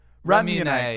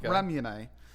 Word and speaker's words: Ramune: How do you say it, I'm going to go with Ramune. Is that right? How do you say it? Ramune. Oh, I wasn't so far off. Ramune.